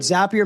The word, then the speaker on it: Zapier: Uh Zapier I always heard Zapier makes you happier.